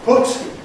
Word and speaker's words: put: Words such as put and words such as cut have the same v.